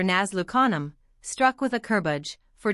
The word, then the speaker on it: Nazlu Khanum: I once saw some of the ladies of Nazli Khanum, thus vulgarly pronounced for Nazlu Khanum, struck with a kurbaj,